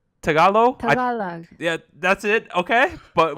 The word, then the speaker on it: Tagalog: Wait, how do I pronounce Tagalog? Tagalog.